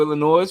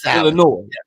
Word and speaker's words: Illinois: Illinois. Yeah. Illinois. The S is silent.